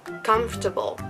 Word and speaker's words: comfortable: it next word is comfortable there's just so many letters in this word why don't we skip like half of them when pronouncing it right it doesn't make any sense comfortable comfortable comfortable and